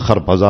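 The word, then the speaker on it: خربزه: ہے نا، فارسی میں اس کا تلفظ خرپزا اور ترپزا، وہ آئے تو ان چھلکے کیا کیا انہوں نے، کھانے لگے خربوزہ اور چھلکے مجھے مارنے لگے.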